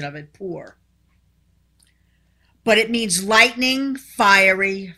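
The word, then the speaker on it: πῦρ: all right the greek word fire is called poor that's the pronunciation of it poor but it means lightning fiery fire we know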